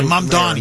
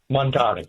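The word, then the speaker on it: Mamdani: Mom Donnie. New York. Mom Donnie. M Donnie.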